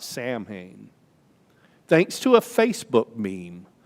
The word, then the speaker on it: Samhain: a pagan holiday called s-a-m-h-a-i-n it's not pronounced like it looks not samhain thanks to a facebook meme i can tell you that that gaelic word which means summer's end is pronounced samhain in ireland salween in